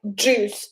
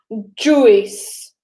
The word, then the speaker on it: juice: Okay, anyway, so it needs to shoot out like juice and not juice.